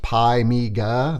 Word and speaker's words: PiMiga: love it because he tells us it is pronounced pie Mega there's there's no a uh uh so that's kind of fun it says find me is an emulated workbench replacement for Commodore Amiga OS pymika runs on Modern Linux which you're gonna see